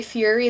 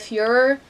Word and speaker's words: Führer: So, like, Bruno would say Fury instead of Führer, but it would say Fury in the adults' dialogue rather than Führer, and that just was weird to me.